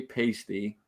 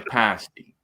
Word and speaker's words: pasty: He would say, It it's a it it's Cornish and and that's where it orig was Cornwall and that's how they say it. They don't say pasty. It's a pasti.